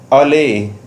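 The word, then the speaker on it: allay: तो अलायंस किसका हो रहा है? रिलायंस का, टाटा के साथ देखिए यहाँ पे। और नेक्स्ट वर्ड इज अले। इसको हम अले प्रोनाउंस करेंगे।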